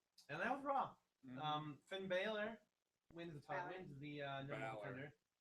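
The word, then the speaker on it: Bálor: It is not like the university. It's not Balor. I know. There's no Y, anyways. I know. That's what I'm saying. And with an accent on the A, Yeah. That. So you're wrong for many reasons. I always want to say Balor though, like Balor. It's Balor. Yeah. Like Valor.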